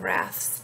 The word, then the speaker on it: rath: to be pronounced slivy wrath he says should rhyme with baths so in his writing